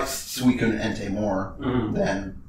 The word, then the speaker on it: Suicune: You know how like it just made me think of Suicune. Yeah. Right? That literally I always pronounced suicide until somebody corrected me.